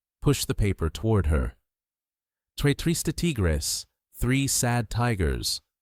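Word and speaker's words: tres tristes tigres: Trrista Tigris. Three sad tigers. The Rs are the tricky part.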